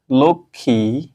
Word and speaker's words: লক্ষ্মী: এখানে যদি আমরা উদাহরণ লিখি আমরা যদি লিখি লক্ষ্মী কি লিখবো লক্ষ্মী দেখো এখানে ল আছে ক এ স অর্থাৎ খিও আছে তার সাথে ম ফলা আছে এটার উচ্চারণ কি হবে লক্ষ্মী লকার দাও ক খারে খি খি উচ্চারণ হচ্ছে